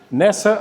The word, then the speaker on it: nessa: Em essa, you just make it nessa. Instead of two full syllables, you basically turn it into a syllable and a half.